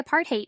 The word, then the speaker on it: apartheid: He said the word was mostly mispronounced in America, and that there was an easy way to remember the correct pronunciation. Just say apartheid, he told us.